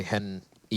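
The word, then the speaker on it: HEN1: It's kind of interesting how for Henny, you say Hen E, you pronounce the 1, but for Lucas, you just ignore the 1.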